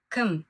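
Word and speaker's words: кім: Когда вы произносите слово км, звук э не надо тянуть или как не надо произносить как звук и ким, например. Звуки о э короткие звуки. Между звуками их почти не слышно, поэтому просто говорите км.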